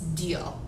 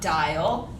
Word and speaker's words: Diehl: you first of all my name is miss deal i know it's spelled raw kind of weird it is no not miss die no not dial yes deal and someday i will